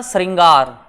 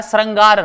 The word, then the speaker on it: श्रृंगार: यह नहीं है और उच्चारण में होता है श्रृंगार होता है श्रंगार नहीं होता श्रृंगार यह गलत यह